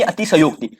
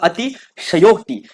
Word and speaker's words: अतिशयोक्ति: दे रहा है, यानी अतिशयोक्ति। उच्चारण ही इसका ऐसा होता है, अतिशयोक्ति। अतिशयोक्ति इसका क्या है, शुद्ध उच्चारण है।